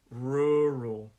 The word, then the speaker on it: rural: rural rural okay so that one two syllable word stresses on that first one and my advice because i know it's quite difficult sometimes with ours and l's like it's it can be quite uh difficult to work our tongues on this one my advice to you is really slow it down slow your pronunciation when you practice this rural rural slow it down okay and then later you